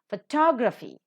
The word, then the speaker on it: photography: selection of the vowels photograph the first syllable is accented photography the second syllable is